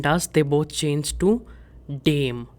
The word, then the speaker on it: dem: And in dative case, der and das, they both change to dem. Pronunciation is dem and not dem.